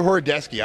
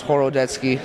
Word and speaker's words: Horodecki: and is it oradecu horodeski I always screwed up I want to know the right way to say it whatever you want to call it in Polish it's horodeski so all right so